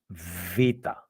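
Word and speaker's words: β: should say this um it's not beta it is VA the voice is V and it is one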